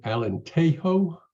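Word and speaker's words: Alentejo: rightward Borders Spain I Alan tehoe I believe is how they pronounce it it's a Charming town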